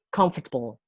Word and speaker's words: comfortable: Jadi kita tuh kalau word stress itu kita memberi penekanan pada 3 huruf pertama, di silabus pertama. Jadi pronunciation-nya comfortable, comfortable. Jadi lebih ke comfortable.